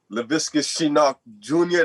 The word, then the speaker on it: Laviska Shenault Jr.: I'm gonna start with saying Laviska Shenault Jr.